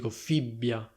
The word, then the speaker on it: fibbia: You can hear that I pronounce a very strong B, precisely because this is a double B. So I say /fibbia/, not /fibia/.Fibbia.